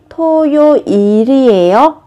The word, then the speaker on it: 토요일이에요: Khi phát âm thì các bạn nhớ nối âm lên nhé. 4월 15일이 토요일이에요. Các bạn chú ý nối âm thì nó sẽ tự nhiên hơn.